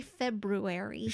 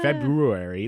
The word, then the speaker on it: February: is spelled but in February like you don't have to hit the second r that r that hard but anyway anyway sorry